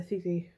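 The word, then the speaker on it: tithi: I just said a ditty before, and it's not. It's a thithi.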